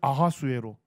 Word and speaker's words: 아하수에로: 그러니까 히브리어 발음으로 할 때는 아하수에로, 그리스 발음으로 할 때는 크세르크세스, 동일한 인물입니다.